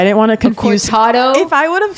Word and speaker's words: cortadito: It's a cortadito. Okay, well, I didn't want to confuse. A cortado?